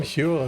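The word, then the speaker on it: Whewell: William we well Hule William Hule is how you pronounced it.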